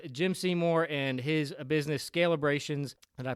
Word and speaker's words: Scalebrations: So with that said, we are with Jim Seymour and his business, Scalebrations. Did I pronounce that right?